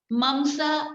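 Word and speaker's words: मांस: Ras, or maybe I'll just spell it. R-A-S-A, ras. Rakt, R-A-K-T-A, rakt, which called blood. Mamsa, M-A-M-S-A, mamsa, which called muscle.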